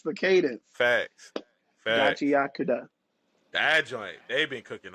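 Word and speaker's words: Gachiakuta: Then we got the the anime that's been plaguing the black community with the pronunciation of its actual name, Gachiakuda.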